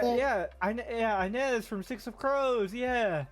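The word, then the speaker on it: Inej: Oh, Anes. Is that how you pronounce that? Yeah. Yeah. Anz from Six of Crows.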